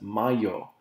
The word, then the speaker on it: mayo: This is pronounced as mayo. You hear about el Cinco de Mayo.